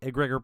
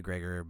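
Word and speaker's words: egregore: I say egregor, but apparently it's pronounced agregor.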